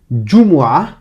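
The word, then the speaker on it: جمعة: Jumu'ah, donc vendredi en arabe se dit Jumu'ah. Et ce mot Jumu'ah commence par ce son, par la syllabe Ju. Ju. Donc ce son plus la voyelle OU.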